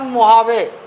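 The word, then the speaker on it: Mojave: और लगा हुआ रेगिस्तान मुहावे। मुहावे। असल में इसमें इसका स्पेलिंग अलग है। एम ओ जी ए एम ओ जे ए वी ई है। लेकिन इसमें ये मुहावे पढ़ते हैं।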